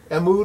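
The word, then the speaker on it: Mtume: Mood is how you say it, the guys that made Juicy Fruit, Mood.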